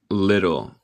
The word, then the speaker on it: little: Little. Un poco o pequeño. En inglés neutral se dice el T. Little. Little. Pero en inglés estadounidense decimos los T's en el medio de palabra muchas veces como R en español.